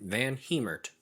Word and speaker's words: VanHemert: that's which is fun fact that's how you pronounce his last name van heemert yes van hammert definitely check out his page you can find